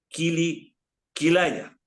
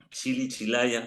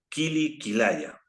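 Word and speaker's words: kili kilaya: dice cómo es mire el mantra es killi quilaya no es chili chilaya si no es kilikilaya no porque vas a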